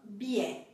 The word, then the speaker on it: billet: Quando a palavra termina por T, também nós temos aqui, regardez bien, petit, tôt, enfant, billet. Petit, tôt, enfant, billet.